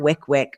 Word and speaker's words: WYCWYC: you want to come on and talk about Wick Wick written out Wick Wick like he got it he knew there was a pronunciation and I thought I know that the